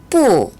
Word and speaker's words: 不: 不，不 뿌. 여러분 잘 알고 계시는 한자죠? 아니 불자인데요. 이 아니 불자의 중국어 발음은 뿌라고 발음을 합니다.